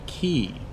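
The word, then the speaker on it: quay: several of these births is called a key but spelled like qu a why I think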